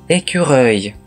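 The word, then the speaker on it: écureuil: 少し似ている単語に、エキュレイがあります。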